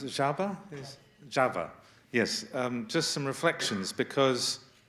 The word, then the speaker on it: Csaba: just what we heard from, how do I pronounce it? Csaba? Csaba.